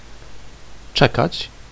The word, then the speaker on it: czekać: the words czapka, which means a winter hat, czekać, which means to wait. SZ, as in szal, or kosz, is pronounced sz.